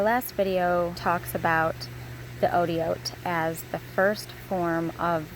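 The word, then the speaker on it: אותיות: I know sometimes I say oats for plural and sometimes I say Otiot. Otiot is really the true plural, proper way to say it. A lot of times it's just kind of more comfortable to say oats. It just kind of comes out because we're used to English.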